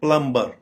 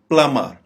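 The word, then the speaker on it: plumber: ये देखिए प्लम्बर, ये बड़ा मिस प्रोनाउंस किया जाने वाला वर्ड है प्लम्बर, ये गलत प्रोनाउंसिएशन है। इसकी दुरुस्त प्रोनाउंसिएशन में बी साइलेंट हो जाएगा, प्लमर, प्लमर। ना ही हम इसको प्लूमर कहेंगे, ना ही प्लम्बर कहेंगे, रादर इसको कहेंगे प्लमर।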